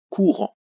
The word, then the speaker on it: courant: Courant, 2 syllabes. Première syllabe, elle est facile, c'est le coup. Et rend attention, un seul R, le en AN et un T que l'on n'entend pas.